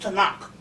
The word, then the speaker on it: Tanakh: right in barnes and nobles and borders the tanakh it's it's pronounced t-a-k-a-n-a tanak it is pronounced takana in english with the way it looks but it's pronounced to knock and it's an old testament it's this dick